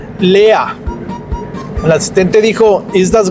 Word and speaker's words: leer: Número 3, Lea. El asistente dijo, ¿ist das Glas halb voll oder halb leer? Lea se escribe L-E-E-R, en español se leería leer, pero en alemán la